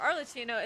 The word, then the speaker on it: Arlecchino: way it is but arino is C that's pronounced like K it happens in some romantic languages my God arino then